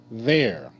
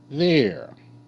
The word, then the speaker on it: there: in the tree they there th air th air there e e r e makes the air sound ear ear okay you